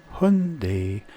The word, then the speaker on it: Hyundai: I present you this soon die or Hyundai as the Koreans like to pronounce it this is the super